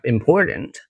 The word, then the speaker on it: important: For example, we have important, important. So when you speak English, you don't want to say important. You say important because there's going to be a word stress there.